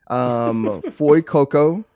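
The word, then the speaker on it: Fuecoco: So it's Sprigatito, Foy Coco, and Quaxley.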